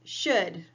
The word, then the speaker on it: should: So, now we are going to talk about should. Should rhymes with could. It sounds like could.